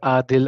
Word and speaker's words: Adil: it's pronounced as Adil as 2A, but Okay, then the spelling itself is ADIL, just ADIL.